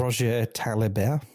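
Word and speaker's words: Roger Taillibert: Say it again. Say it correctly. Roger Talibert. There you go.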